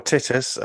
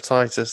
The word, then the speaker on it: Titus: Bible and now I feel like when people mispronounce job as job I can correct them or titties um instead of Titus that's always a losing one yeah um yeah